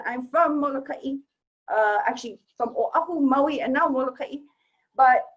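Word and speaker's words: Oʻahu: O'ahu. One more time. Everybody mispronounces that one, especially O'ahu. Oh, good. Next one, Molokai. Okay, there's 2 different pronunciations, and I'm from Molokai. actually from Oahu, Maui, and now Molokai.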